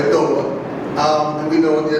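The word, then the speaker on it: Adowa: Some people say Adawa. I've heard it from Africans in 2 different ways, but I'm going to say adoba.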